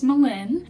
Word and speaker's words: Melen: starters my name is melen that's like Melinda without the duh that's usually how I tell people how to pronounce it that was made up